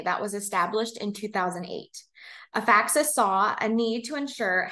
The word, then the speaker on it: Afaxys: who need it and our name actually stems from a combination of both affordable and access which is how you would pronounce a faxes another little tidbit here